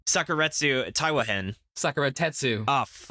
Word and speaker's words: Sakuratetsu Taiwa-hen: corrupted at this point but the series is pronounced sakuretsu taiwahen Sakura tetsu oh sucker Sakura